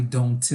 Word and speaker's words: don't: Nós não vamos pronunciar esse T aqui, ó. Então, você não vai falar I don't live. Você fala I don't live. He doesn't live. She doesn't live. Tá? Então, não precisa pronunciar. Nesse caso aqui, não pronuncia o T. Tá? Não esquece de escrever. Escreve sim, mas só não precisa pronunciar.